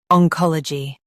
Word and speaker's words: Oncology: Oncology. Stress ka and keep g light.